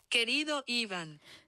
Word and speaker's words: Querido Evan: This is how you say it. Querido Evan.